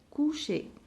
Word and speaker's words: coucher: Alors, coucher. ER se prononce E.